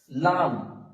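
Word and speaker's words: ل: একটু বাতাস বের হবে তারপরে আসছে লাম লাম বলার সময় লাম জীভের আগাটা উপরের তালুর সঙ্গে লাগিয়ে ও জীবের আগাটা উপরের তালুর সঙ্গে লাগিয়ে উচ্চারিত হবে এবং দুই ছুট একসাথে মিলিত হবে হয়ে উচ্চারিত হবে লাম লাম মানে শেষ অংশে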